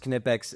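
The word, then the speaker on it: Knipex: And finally, the Goat Kipex wire strippers. Yes, it's pronounced Kipex.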